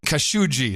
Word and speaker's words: Khashoggi: We have the official pronunciation of Khashoggi. You said Jamal Khashoggi was not a good guy. Jamal Khashoggi. Jamal Khashoggi. Khashoggi. There you go. Jamal Khashoggi is now the official No Agenda pronunciation of the name.